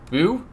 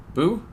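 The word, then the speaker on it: Bhu: bird i'm gonna say it's pronounced boo b-h-u boo um and you know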